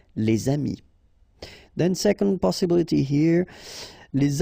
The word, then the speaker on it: les amis: If you've got a word after and then it's starting with a vowel like this one, amis, friends, then you should make the liaison, les amis. All right, les amis.